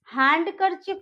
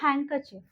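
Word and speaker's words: handkerchief: इट्स हैंडकरचिप नहीं होता है, वो होता है हैंडकरचिप। तो यहाँ पे हम डी को प्रोनाउंस नहीं करेंगे।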